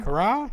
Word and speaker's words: Carax: Leo Carax is how you say it? Cara? Leo, yeah. Cara? Yeah. Cara. I'd say Cara. I'd say the X is silent.